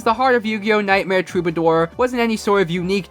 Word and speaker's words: Troubadour: Apparently it's pronounced Troubadour, but the guy who narrated the trailer for this game pronounces it Troubledoor.